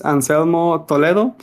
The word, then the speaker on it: Anselmo Toledo: as you mentioned um Roseland my name is Anselmo Toledo I'm from Mexico uh you pronounce it well it was a a good